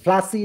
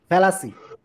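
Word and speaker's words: fallacy: ফ্লাসি না, ফ্লাসি না, ফ্যালাসি, ফ্লাসি আর ফ্যালাসি ভিন্ন জিনিস।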